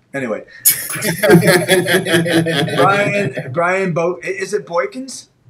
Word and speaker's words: Boykins: Brian Bo, is it Boykins?